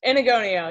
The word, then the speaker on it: Enagonio: God, I hope I pronounced his last name correctly. K Enagonio, is that correct? Enagonio, yeah.